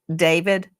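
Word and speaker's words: D4VD: Some people look at his name and it looks it looks like D4 VD and he pronounces it David.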